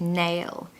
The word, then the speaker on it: nail: Make sure you pronounce the L on the end of nail, because it will help you blend into the next word, which is on.